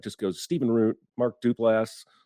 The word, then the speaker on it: Duplass: goes steven roone mark duplass dupless duplasty um you did two pronunciations and neither were right it's duplass duplass applause i don't give